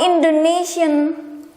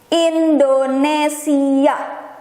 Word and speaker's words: Indonesia: And foreigner will call my country's name as Indonesia, but how Indonesian pronounce their own country, including myself, is Indonesia.